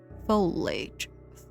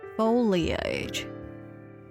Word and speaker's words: foliage: For some reason, I can't remember how it Oh, foliage. I put the emphasis of the wrong place at a neighbor for the purpose of stopping.